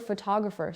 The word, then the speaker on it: photographer: Now the word photographer, say it, photographer. The stress moved. Now it is on the second part, photographer.